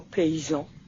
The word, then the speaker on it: paysan: vibrations et les sons on avait oublié de lui expliquer que y se prononce double I alors à l'école elle on lui avait dit y alors quand elle voyait écrit le mot paysan elle disait pays et non déplaise à